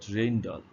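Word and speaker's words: Rijndael: So it is pronounced at Reyndal.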